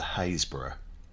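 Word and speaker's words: Happisburgh: Our last tale takes us to Haysborough, spelt Happysburgh, We've no idea why it's pronounced that way, it's just the way it is.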